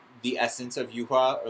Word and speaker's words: Yuhua: They never pronounce her name. They say No. Yuha. They don't even say Yuha. They say Yua. Her name Yuhua.